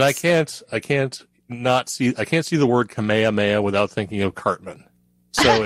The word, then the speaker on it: Kamehameha: I'm assuming that's how that's pronounced, which is the Hawaiian word for help, and promoting K6K, the Kik Kamuamua. Yeah, celebration. King Kamehameha. Kamehameha, yeah, sorry.